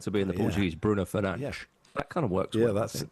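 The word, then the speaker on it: Fernandes: I mean, I think Bruno Fernandez, if you if you pronounce Bruno Fernandez the way it's meant to be in the Portuguese, Bruno Fernanch, that kind of works well.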